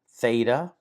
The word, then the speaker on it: theta: Theta, theta, it has a th sound, as you would expect.